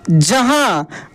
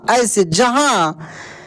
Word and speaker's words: जहां: के लिए जहां क्या जहां आ देखिए यहां पर लास्ट में दोस्तों जो उच्चारण हो रहा है ना उसका ध्वनि जो है नाक से निकल रहा है जहा देखि ज हा ऐसे जहां ठीक ना लेकिन जब